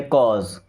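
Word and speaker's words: cause: कॉस नहीं पढ़ते, कॉज।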